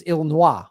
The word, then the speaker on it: Illinois: In French, it's Illinois. They would pronounce it Chicago, Illinois, like, which we would not say here.